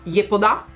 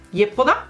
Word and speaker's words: Yepoda: Poi altro pacchettino, questo è di Yepoda, che in realtà so che in coreano si pronuncia Yepoda, Yepoda più o meno, ok, mi sono informata.